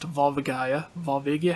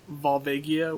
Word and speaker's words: Volvagia: So instead of Volva- Volva Gaia, it's Volvagia, or I think Volvagia is most likely the right way to pronounce it.